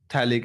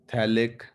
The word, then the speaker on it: phthalic: इसका common name वो interesting है, this is थैलिक acid, PHTHALIC, थैलिक acid.